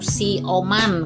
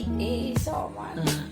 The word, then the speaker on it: isoman: Isoman. Ternyata dibacanya isoman. Lalu saya membuat per suku kata. Isoman. Ini juga sulit dibaca tapi lama kelamaan jadi bisa. I dulu, so dulu, baru man. Setelah digabungkan isoman.